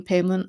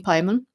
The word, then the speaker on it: Paimon: can find meditations on King payon or King Pimon depending on how you pronounce it preferably uh meditations on